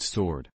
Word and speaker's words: sword: the dictionary says B2 it's written with a silent W SW sword but pronounced sword Excalibur was the sort